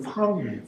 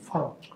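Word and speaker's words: 房: 방을 중국어는 발음이 팡이에요. 팡 F로 시작해.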